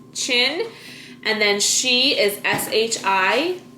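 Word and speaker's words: Qin: Chin is spelled it's a name, so capital Q-I-N, Chin, and then she is S-H-I.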